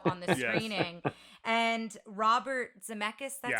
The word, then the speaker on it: Zemeckis: them walked out on the screening and robert zemeckis that's how you say his name he had